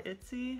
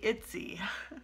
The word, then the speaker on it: Ittse: It's by Ittse. Not Ipsy, Ittse. I think I pronounced it right.